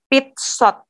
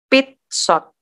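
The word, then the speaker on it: пятьсот: Pit shot. Kenapa pit, Miss? Karena pit shot, ini Miss gambar sini, tekanannya di mana? Di shot kan? Berarti ini nggak bertekanan, bacanya I, pit shot.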